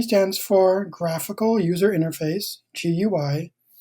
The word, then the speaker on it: GUI: GUI stands for Graphical User Interface, GUI. Most people pronounce it GUI, like a GUI chocolate chip cookie, for example.